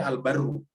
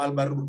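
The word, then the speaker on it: البرّ: Ini kalau al-barru begini bisa dibaca al-bar, tetapi karena ini di depan masih ada kata di belakangnya, maka ini dibacanya al-barru rahim karena ini harus bersambung ke sini.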